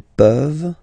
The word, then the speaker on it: peuvent: Tu peux, il peut, elle peut, nous pouvons, vous pouvez, ils peuvent, elles peuvent. Okay? As usual, this ending, this ENT ending, you write it, you don't pronounce it.